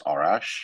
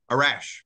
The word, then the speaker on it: Arash: It is pronounced as Arash, which is way off. So feel free to pronounce it however you would like. Arash is how it's pronounced. Yes, Arash.